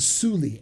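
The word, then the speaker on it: Soulli: the details of the contract exactly it's a suli s-o-u-l-l-i that's how you pronounce it where would i start if i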